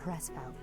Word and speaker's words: Hresvelg: My name is von Hresvelg. Okay, so I was right. I had no idea how to pronounce the Reskvel because you never said it before, so I was actually correct.